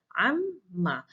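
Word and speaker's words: عمّ: The moment the noon is deleted, the sound of noon is merged with meme, and that's why there is a two memes pronounced here, amma.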